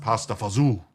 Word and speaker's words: pasta fagioli: Oh, what's a killer pasta fagioli? Actually, it's pronounced pasta fazu, but I call it pasta fagoli.